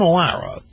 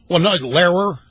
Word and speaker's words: Lehrer: on PBS with Jim O'Lara. Jim O'Lara interviewed, Lehrer. Somebody said, who's Jim O'Lara? That's how he pronounced it. His name is Jim Lehrer.